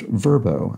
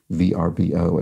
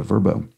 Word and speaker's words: VRBO: by owner is pronounced verbo as opposed to VRBO as I pronounced it letter by letter so I suppose that makes it an acronym because we pronounce it like a word a verbo and thank you for